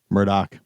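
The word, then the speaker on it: Murdaugh: Murdoch.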